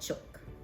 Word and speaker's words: jook: different nationalities so i know the chinese call it juk j-o-o-k but i grew up in a filipino household and it was called chok and i don't know